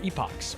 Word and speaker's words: epochs: Let's check our epochs, or epics, if you prefer to pronounce it that way.